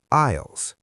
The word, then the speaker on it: aisle: These sections are often called aisles. A I S L E, but we say aisle. The S is silent.